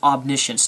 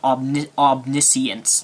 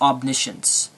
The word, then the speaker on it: omniscience: God then you are claiming omniscience and it's pronounced omniscience not obn omniscience like you say it's omniscience let's examine your reasoning here I am sitting